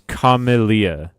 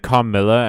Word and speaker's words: Carmelia: It's Carmelia. You said Carmilla and my neck snapped so fast expecting a lesbian vampire.